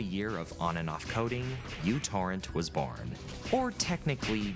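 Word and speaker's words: µTorrent: technically micro torrent or mutor torrent. The name of the letter in the Greek alphabet. But because this letter at the beginning of the word resembles a u, people just started calling it that.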